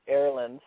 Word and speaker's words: Erland: Well, it is pronounced Erland, and it's actually my first name, and it